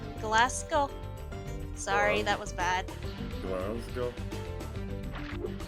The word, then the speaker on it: Glasgow: But yeah, Then- Glasgow kiss.